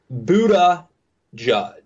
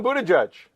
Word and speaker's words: Buttigieg: to settle on the DMZ style guide for pronunciation. I think we've settled Buddha Judge. I'm going Buddha Judge. Buddha Judge.